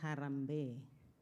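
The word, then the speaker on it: harambee: I thought it was harambe, but it's pronounced harambe.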